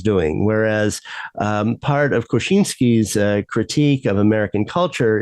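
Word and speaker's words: Kosiński: there or As Americans uh know him Jersey Kaczynski uh unfortunately pronouncing his name the same way as they pronounced the name of the Unabomber which is spelled completely differently right key and not koshinski but but they all become Kaczynski in English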